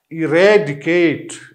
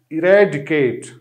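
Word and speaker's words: eradicate: तो इसकी प्रोनाउंसिएशन किस तरह होगी? इरेडिकेट, इरेडिकेट, ठीक है।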